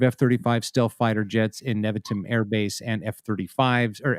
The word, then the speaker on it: Nevatim: Iranian propagandists have also alleged that Nevatim, is that how you pronounce that, Matt?